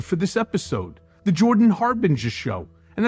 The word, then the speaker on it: Harbinger: this episode the jordan harbinger show and that's pronounced har bin jur things can get pretty